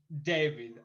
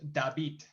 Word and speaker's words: David: what happens is that in english is pronounced david but in spanish is called dabit so it's different but it's okay whatever